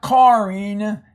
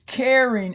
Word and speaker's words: caring: This is caring. Not carring, it's caring. And why? Because the syllable divides. It's a consonant vowel syllable, not consonant vowel consonant like we had up there.